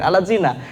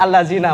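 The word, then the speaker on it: الَّذِينَ: membaca yang harusnya dibaca alladzina amanu ya ayyuhalladina amanu eh malah dibaca ya ayyuhaladina amanu Coba lihat aja di huruf latin alatzina yang harusnya alladzina amanu menjadi alat zina gitu nah ini kan fatal kalau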